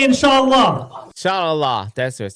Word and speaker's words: inshallah: Inshallah. That's what it said. Inshallah. I guess the ayin is silent.